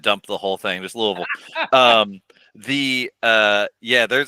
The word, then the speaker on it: Louisville: can run through the Louisville Louisville or the big just combo syllable Louisville Louisville yeah you kind of pour it out of your mouth you just kind of dump the whole thing just Louisville um the uh yeah